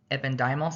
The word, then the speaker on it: ependymal: these conditions are associated with a deficiency of ependymal cells, is how you say it. The pronunciation is kind of difficult.